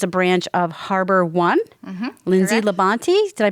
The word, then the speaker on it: Lindsay LaBonte: mortgage which is a branch of Harbor One Lindsay Labonte did I pronounce that correctly correct excellent so let's get